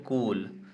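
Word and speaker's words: cool: तो सब में देखिए इसमें कूल कूल ऐसा तो जो डबल ओ है ना उसका साउंड आ रहा है बड़ा ऊ ठीक है लुक में छोटा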